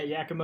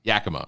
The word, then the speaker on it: Yakima: profiles of baseball broadcasts broadcasters from Scranton to Yakima am I pronouncing that right yeah Yakima is up in Washington Yakima okay uh again it's expected out on June